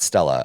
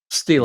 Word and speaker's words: stele: It's not Stella. I say it wrong. Stele.